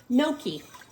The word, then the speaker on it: gnocchi: get hot and thickened now no key what is gnocchi it's a word that i had trouble learning how to pronounce it doesn't pronounce anything like milky to me but it's it's a